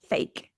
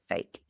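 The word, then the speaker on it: PHEIC: emergency of international concern, which is pronounced fake, p h e i c, fake.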